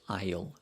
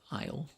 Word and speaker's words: aisle: easily but the way you say it is isle isle io so i went to the fruit aisle